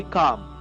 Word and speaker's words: calm: कितना काम नजर आता, CALM, उसमें एल साइलेंट होता है, ये ध्यान रखेंगे, काम, CALM में एल साइलेंट है, काम, जिस तरह से चार्म था उसी तरह से है, लेकिन यहाँ पर एल को साइलेंट रखना रहेगा।